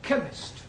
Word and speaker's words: chemist: spell chemist. Oh, blimey. K-E-M. Chemist does not begin with a K. It sounds like it begins with K, CH.